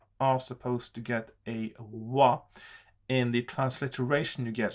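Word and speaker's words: は: how it is written that is a particle that as a particle it gets a different pronunciation so that's something you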